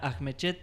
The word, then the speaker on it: Ajmechet: por primera vez a la diputada nacional Sabrina Ahmechet. Bienvenida. Gracias por venir, Sabrina. No, gracias por la invitación. Está bien pronunciado.